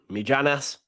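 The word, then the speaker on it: Mijnans: on the couch cross comes in minons or mijanas as I called him is called my nons medianus it's like land maginus you don't know dear until you either connect correct pronunciation me Janice my pronunciation's better anyway nah get up he's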